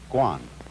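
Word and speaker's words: 觀: that means seeing and the whole character is pronounced Guan and it means a certain kind of observation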